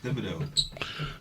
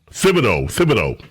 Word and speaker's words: Thibodeau: Hey, TJ, how do you pronounce this guy's name? Yeah. Tom Thibodeau. Thibodeau.